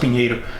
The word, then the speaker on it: Pinheiro: Like, you know, gringos call my name Pinheiro, but it's actually pronounced Pinheiro.